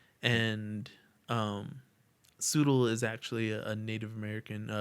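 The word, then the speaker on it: Tsoodle: and like i'm like the t is silent you know i just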